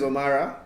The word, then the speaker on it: Omara: though yeah uh yeah my name is omara omar d for mara daniel don't pronounce it the wrong way please baganda half actually